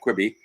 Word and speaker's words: Quibi: greg is on qb how do you say that quitting quickly or yeah quibby yep it's like uh what